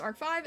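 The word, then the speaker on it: ARC-V: The only Yu-Gi-Oh anime series that I watched completely was ArcV pronounced Ark 5 and V Reigns and 5Ds.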